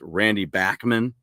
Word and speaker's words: Bachman: I've learned recently that it's Randy Bachman.